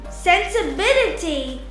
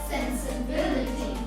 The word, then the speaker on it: sensibility: When we come across words ending in ity or ity, we put the stress or place the accent before the syllable. For example, ability, Ability, capacity, capacity, generosity, generosity, sensibility, sensibility, charity, charity, clarity, clarity, trinity, trinity, electricity, electricity, university, university, speciality.